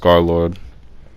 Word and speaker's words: Scarlxrd: was pretty much analyzing Scarlord style, like Scarlord, like Scar L. How does it spell? It's like Scar L XRD, but of course it's pronounced Scarlord.